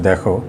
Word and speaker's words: the: বন্ধুরা এখানে আমি আরেকটা জিনিস ইন্টারেস্টিং বিষয় একটু লিখে রাখছি, সেটা একটু দেখো যে THE, এটা তো অবশ্যই ডেফিনিট আর্টিকেল। এই THE এর উচ্চারণটা দিও বলা হয়, আবার দাও বলা হয়।